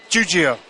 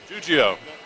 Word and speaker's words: Giuggio: to attempt your name give me some help juio juio I would have said it wrong juio